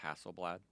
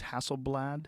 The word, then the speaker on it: Hasselblad: you know have you heard the company called Hasselblad yes I believe go camera company that they